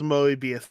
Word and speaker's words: Moebius: Oh, it's Moebius time. Moebius. That's how Moebius. Kayla's pronounced it to me, and that's how I usually go for.